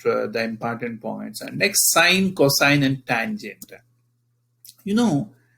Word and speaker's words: sine: pretty much about the important points and next sine cosine and tangent you know when we take the ratio of opposite side to theta to its hypotenuse that is known as sine in fact these are the rules i'll explain